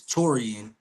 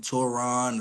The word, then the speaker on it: Taurean: So a lot of people, they don't know how to pronounce my name, which is Taurean, and a lot of people would pronounce it Tauron or Taurine, Torian, or things of that nature.